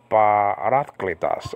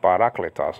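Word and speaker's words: παράκλητος: And one of the functions is to be a parakletos, actually, parakletos. A lot of people say parakletos, so they have the wrong emphasis on the wrong part of the on the wrong part of what actually parakletos actually.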